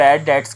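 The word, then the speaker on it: debts: मिलेंगे इसके लिए ब डेट्स का जो है डी ये बी साइलेंट रहेगा ठीक है बैड डेट्स डी ई टी एस आपने पढ़ना है बी को साइलेंट पढ़ना है तो ऐसे पैसे जिसमें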